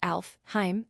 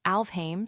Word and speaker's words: Alfheim: Sailor Moon asks Alfheim online. Sailor Nebula responds, "It's actually pronounced Alfame Serena.